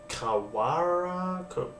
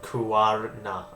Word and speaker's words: Kuwarna: For those that can't see this on screen, Adelaide have changed their name to Kawara. I have butchered that. Oh my god, Kuwarna.